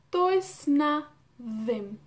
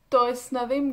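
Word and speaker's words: does dim: Tois na dem. Tois na dem. Recuerdan que la D es muy fuerte, pronunciada casi como una T en castellano.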